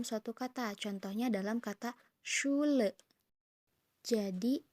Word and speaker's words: Schule: Pasti itu akan ada dalam suatu kata, contohnya dalam kata Schule. Jadi SCH ini dibaca dengan sh. Bisa nggak? Sh. Kayak ini loh, kalau misalkan lagi berisik, shh, gitu. Tapi ini, shh. Awas ya teman-teman, jangan sampai muncrat nanti itu banjir ya.